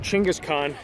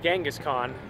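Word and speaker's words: Genghis Khan: the 800th anniversary of his coronation um it's pronounced chingas Khan not gangas Khan which I thought it was but it's not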